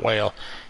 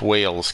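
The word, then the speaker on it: Wels: may pronounce that wrong i try to say whales it's not well it's whales catfish but my country tongue will not allow me to say it correctly w-e-l-s and uh they're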